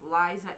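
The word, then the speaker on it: Lysa: And from L-Y-S-A, I think that's pronounced Liza M.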